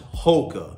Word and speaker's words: HOKA: Yes, it's pronounced HOKA.